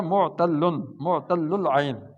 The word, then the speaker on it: معتل العین: یہ تلفظ ہوتا ہے معتل العین، 2 لام ہے نا علت میں، علالہ معتل العین، ٹھیک ہے؟